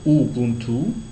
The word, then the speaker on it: Ubuntu: socio linguisto culturel plutôt donc Ubuntu on le prononce Ubuntu alors c'est plus qu'un